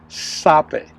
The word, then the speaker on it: Zape: Correct pronunciation is Sape. Okay, Pronounce the Z like a S.